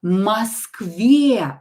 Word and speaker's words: Москве: Or not stressed, pronounce it as a. Москве and stress the correct vowel.